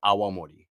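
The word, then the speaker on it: awamori: Japan's first spirit, honestly, that's called Awamorei. And this is spelled A W A M O R I.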